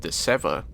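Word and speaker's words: DeSeve: picard questions to sev whose name turns out to be pronounced de seva showing that riker was pronouncing his name wrong before well i'm going to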